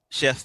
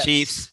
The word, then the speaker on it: Chiefs: we got two uh chef fans is that how you say it is it chefs yes no it's your choice yeah chiefs yeah there you go